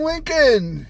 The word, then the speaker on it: Lincoln: Lincoln. That's Lincoln. There's the L in English. I know that, but it's not pronounced. Well, it's a they silent. don't know that. It's a silent L.